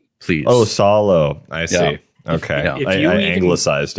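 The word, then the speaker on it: Salò: someone's gonna correct you eventually okay it's not pronounced salo it's solo please oh solo i see okay i anglicized it yeah if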